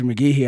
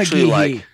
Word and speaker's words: McGhee: The H is weird. It's not McGhee. It's McGhee.